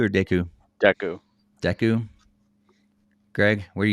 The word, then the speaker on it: Deku: Do you call it Deku or Deku? Deku. Deku? Greg, where do you fall? Yeah, more like Deku as well. Deku? Okay. More like the Deku with actually pronouncing the E.